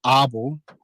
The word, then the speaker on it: Abel: 1600s like 1642 when abel or arbol that i've learned that's how you pronounce it um came into mohua